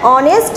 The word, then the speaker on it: honest: যেমন দেখো অনেস্ট, এখানে কিন্তু এইচের উচ্চারণ আসেনি, অনেস্ট এর উচ্চারণ আসছে।